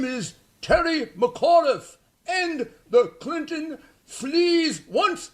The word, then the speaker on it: McAuliffe: McAuliffe.